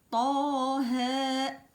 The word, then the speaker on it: طه: Ah, ici c'est grave et là c'est aigu. On dit pas طه et on dit pas تاه. Il faut pas prononcer les deux graves et non pas les deux aigus.